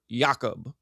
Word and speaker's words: Yakub: It's just Jacob pronounced in the traditional style.